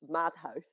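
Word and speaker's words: Maathuis: In English, usually it becomes Matthews. It's Maathais.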